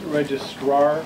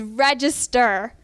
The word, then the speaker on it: Register: Is your title pronounced registrar or register? That is an easy enough question. That is register. Register of probate.